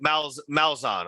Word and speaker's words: Malzahn: Gus Malzahn, is that how you pronounce it? Okay. Yeah. So Malzahn.